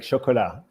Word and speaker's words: chocolat: I'm not pronouncing the T in Benoit. It's exactly like chocolat, and like Chocolat. Benoit, Chocolat. you Yeah. know, all three have a T at the end, and none of the T's are said.